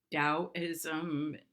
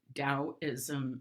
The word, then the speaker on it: Taoism: a description of what Taoism stands for and it's often spelled t8o is M but it's pronounced with the D so that ow means